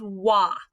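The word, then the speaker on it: は: right here this is wah i know it looks like ha when we're using it as the subject marker it reverts to its old-fashioned pronunciation of wa it's one of the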